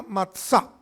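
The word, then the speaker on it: מצה: A eso se llama matzá. Matzá, así se pronuncia, matzá.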